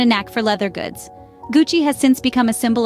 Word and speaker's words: Gucci: quick tutorial it's not Gucci or gucky in Italian it's pronounced Gucci with a hard G as in good and a soft Chi like in cheese founded in Florence Italy